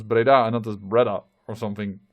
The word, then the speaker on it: Breda: i complaining i mean who knows that pereida is pronounced as breda another or something like